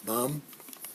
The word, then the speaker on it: bomb: For example, this word, bomb, this is pronounced B, right? How is this one pronounced? Silent. What's the rule? Does anybody know the rule? No. If it comes after M, it's silent.